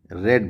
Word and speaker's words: read: हैं आई रीड book, spelling same है, READ है ना, यहाँ पर AD है, यहाँ पर भी READ है, ठीक है ना, READ, पर उच्चारण अलग है।